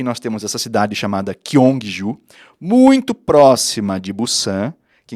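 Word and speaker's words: Gyeongju: falar dessa cidade aqui nós vamos falar kyong Ju porque essa é a pronúncia local que o guia vai falar com ele né que os locais vão pronunciar Então já entendendo isso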